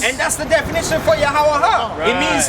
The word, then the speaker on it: Yahweh: This is the reintroduction of the correct pronunciation of the name Yahweh.